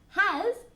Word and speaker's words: has: it has okay and be careful with the pronunciation of has two things to take into account has remember we we make the sound here he'll always remember like you're warming your hands ha okay and then has like a zoo sounds like a bee okay hands in the